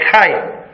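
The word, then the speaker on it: Hai: Voy a pronunciar la H como si fuera una J, para que no parezca un dolor. ¿Sí? Llega a la puerta de Jai.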